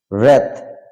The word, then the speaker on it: wrath: W, double U silent word. Double U silent word, এখানে দেখতে পাচ্ছি আমরা এই স্ক্রিনে প্রদর্শিত শব্দগুলোতে double you later will be silent. Someone such as রিক মানে ধ্বংস, wrath মানে রাগ, রাইট মানে